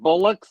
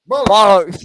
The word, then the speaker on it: bollocks: Bullocks in England? Bollocks, yeah, bollocks.